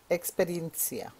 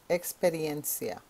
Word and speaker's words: experiencia: say experience in Spanish now the way you pronounce experience experiencia experiencia repeat please Experia again Experience experiencia One More